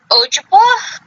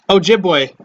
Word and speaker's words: Ojibwe: There are many tribes with the belief of the Wendigo, such as the Ojibwa, the Ojibwa? Ojibwa? Wait, what? Yeah, Ojibwa? That how it's pronounced? Oh, the tribe? Yeah. Ojibwe. Ojibwe.